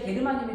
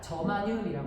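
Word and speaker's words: germanium: 들어봤어 안 들어봤어 들어봤죠 선생님 어렸을 때는 진짜 게르마늄이 아고 읽었어요 그근데 실제 그렇게 읽으면 외국인들이 못 알아들어요 그래서 저걸 뭐라고 읽어요 얘들아 저마늄이라고 라고 얘기를 합니다 자 그래서이 원소가 누구였냐는게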